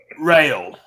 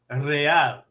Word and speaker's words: Real: Is that what well, a good friend of mine informed me it's rail. That's how you pronounce that. It's actually real, porque la palabra es en español.